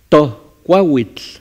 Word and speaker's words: tohcuahuitl: Tohcuahuitl. Se pronuncia tohcuahuitl. Tohcuahuitl, no es J, es la mitad.